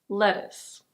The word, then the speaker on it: lettuce: In American English it's very similar, but the T is a flap T, so it's a "deh" sound. Lettuce. Lettuce.